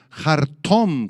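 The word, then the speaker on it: חרטם: el versículo 9 es la palabra aramea harom con acento en la o y H al principio harom que describe a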